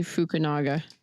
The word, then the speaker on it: Fukunaga: Carrie Georgie Fukunaga.